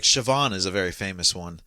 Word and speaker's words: Siobhan: of Irish names like Siobhan is a very famous one yeah the be can sometimes be V yeah sioban is spelled Coban